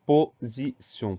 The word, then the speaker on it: position: Première syllabe po, P-O, sans problème. Deuxième syllabe zi, S-I. Le son Z s'écrit avec le S parce que le S est entouré de deux voyelles. Et dernière syllabe, pardon, sion, T-I-O-N, avec le son S qui s'écrit avec le T, mais c'est une syllabe